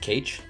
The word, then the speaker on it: cache: It's pronounced cache.